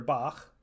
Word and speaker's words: Bach: In Scottish words like loch, or the name of the composer Bach, we often cheat a bit and pronounce it k. But you may have heard them with a raspy final ch sound made in the back of the mouth.